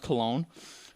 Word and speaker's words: Cologne: But basically, mass gang rapes, and apparently it is pronounced Cologne.